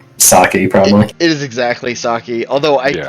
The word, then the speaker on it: sake: It is exactly sake. Although I Yeah. found out we're pronouncing sake wrong. It's not pronounced sake. Yeah, it has an E in it, not an I.